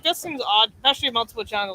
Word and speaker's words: Montepulciano: couldn't be happier that I know how to pronounce. And this one actually is Montepulciano.